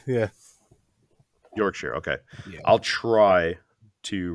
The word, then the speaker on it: Yorkshire: It's pretty entertaining listening to people try and pronounce that one without knowing. So would you say Yorkshire? Is that right? Yeah, Yorkshire. Yeah. Yorkshire.